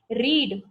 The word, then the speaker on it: read: बोलने का तरीका उसका बदल जाएगा पर स्पेलिंग नहीं बदलेगा, रीड ही रहेगा. पर आप उसको बोलोगे कैसे? आई रेड this book yesterday.